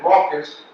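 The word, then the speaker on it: Volksgeist: And we pronounce that Folkist, written as Folkist. Folk means people and this means spirit.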